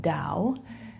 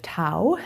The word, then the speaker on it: Tao: see on your screen pronounced Dow instead of Tao as it might look and the Dow is